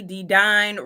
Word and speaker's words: Dedyne: people my name is dedon rhymes with Divine and I am the